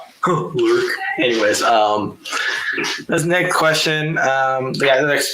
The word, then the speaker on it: Learke: Well, and it's pronounced Learke, not Lurk, like a lot of people think. Learke.